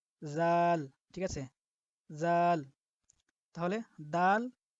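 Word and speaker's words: ذال: তো এটার উচ্চারণ আমরা জিহ্বার আগে থেকে একটু নরমভাবে করব। জাল, ঠিক আছে, জাল।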